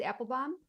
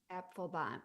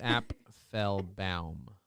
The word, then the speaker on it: Apfelbaum: pronouncing your last name it's Apple bomb yeah three syllables app Fel bam app full bam oh app okay app full bam bomb yeah okay I I always thought it was like apple bomb like um from yeah yeah yeah but it's Appel bam that's how people pronounce